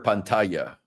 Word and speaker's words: pantalla: Share your pantalla.